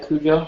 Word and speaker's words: Cujo: Do you pronounce it Cujo? Am I pronouncing it right? Yeah, Cujo.